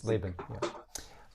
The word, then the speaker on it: Laban: How do you pronounce Lavan in English? Is it Lavan or? Yeah. Laban? Okay. Or Laban. Laban, yeah.